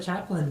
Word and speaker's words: chaplain: tell me what a chaplain does? Hi, Casey. Hey, a lot of people get us confused with the actor Charlie Chaplin. It's spelled differently, of course. It's got an extra A in there, CHAPLAIN.